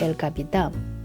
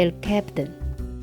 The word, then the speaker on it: El Capitan: one you see is El Capitan This name is actually Spanish It should be pronounced El Capitán But if you read it in English it would be El Captain This 914-meter vertical granite